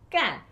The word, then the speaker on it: 干: 那 when it is fourth tone, 干，那 it means to do. To do is 对的。 the 4th tone.